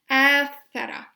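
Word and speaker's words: آثر: This is the last example of this word, athara, but this time there is an alif added in the beginning to make it a form for past tense verb pronounced as athara.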